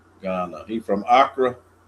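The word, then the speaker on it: Accra: Is is that Am I pronouncing it right, Tumani? Yeah, I'm pretty sure it's AC c a Okay. Acra.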